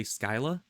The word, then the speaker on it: Scylla: the Odyssey, I believe, you would say Skyla, probably, because the C would probably sound like a K if it follows the same rules as Kirky.